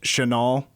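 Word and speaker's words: Chenal: there Leo's last name it's 100% pronounced chanol yeah Chanel okay it was Chanel for a while then Chanel so go go with Chanel I feel like he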